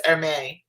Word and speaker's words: Hermès: They've got Hermès or Hermès. I think it's Hermès. That's how you pronounce it in there.